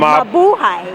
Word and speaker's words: mabuhay: Well, the most basic is mabuhay. That is basic. Mabuhay. There you go. That's basically how you say aloha, hello, welcome. So you say mabuhay.